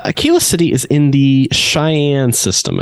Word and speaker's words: Cheyenne: city is in the Cheyenne system I think I'm saying that right you may also say Che yini um if you're looking at direct pronunciation of what it says it's like a fine wine um on the Galaxy